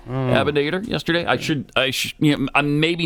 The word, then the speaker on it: Abinader: Is that how you pronounce his last name? Abinader. Yesterday, I'm maybe not as up on my Dominican Republic presidents as I probably should be. Abinader. Yeah. Abinader.